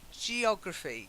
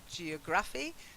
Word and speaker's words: geography: Then geography, slightly different stress, not geography, geography. Geography. Geography. The stress is on geo, yeah?